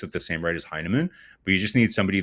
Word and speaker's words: Heineman: So you lose a guy like Emil Heineman, I think how do you pronounce his name? Is that Heineman?